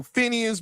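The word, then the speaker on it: Finneas: Billy Eilish's brother, but it's spelled, but it's pronounced like Phineas, but it's not spelled like Phineas and Ferb.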